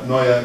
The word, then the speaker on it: Neue: A lot of people say it's Helvetica New, but it's actually a German word. Neue, it means new, but designers will love you if you can pronounce that.